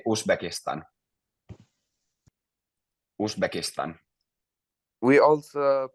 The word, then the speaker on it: Uzbekistan: Uzbekistan. We also pronounce it like this.